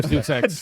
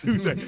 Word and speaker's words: Deus Ex: Drop a deuce X. Deus Ex. Deus Ex. You got to So- Deus Ex. What? Yeah, drop a deuce X real quick. Well, you know how it is with these games. You pronounce it wrong, it's my correction.